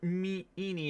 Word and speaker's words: Ini: I'm sure enie is supposed to be pronounced like eeny meenie miny miny.